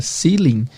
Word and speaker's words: ceiling: Aprenda que na palavra ceiling, o stress é na primeira sílaba, no C, ceiling, tá?